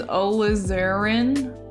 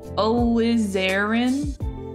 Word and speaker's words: alizarin: you thank you huh the pronunciation is olazarin olizarin that sounds